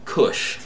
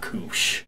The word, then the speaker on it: Kush: But to be fair, the term for marijuana is actually pronounced and spelled Kush, not Koosh.